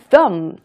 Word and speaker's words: thumb: two thumbs up. 이렇게 하면 야, 너 정말 너무너무 좋다라는 의미로서 우리가 많이 쓰죠. thumb. 엄지입니다. 같이 한번 발음해볼게요. th 발음 있으니까 혀가 치아를 한번 스친다는 것도 꼭 잊지 마시고요.